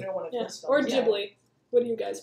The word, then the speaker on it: Ghibli: Or Ghibli. Yeah. What do you guys pronounce it as? I say Ghibli. Ghibli? Ghibli's an old habit, so I know it's technically Ghibli, but I always forget.